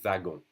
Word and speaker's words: wagon: Un wagon, it's pronounced just like a V. Un wagon.